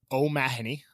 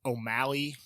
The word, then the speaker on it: O'Mahony: Okay, so O'Mahony, kind of like Oh My Honey, but real quick. It's kind of how I tell people. I've gotten it butchered O'Malley, Mahoney.